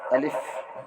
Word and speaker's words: الف: تک مفردات حروف ہیں۔ الف شکل میں ایک حرف ہے، مگر تلفظ کو ادا کرتے وقت 3 حرف سے الف ہوتے ہیں۔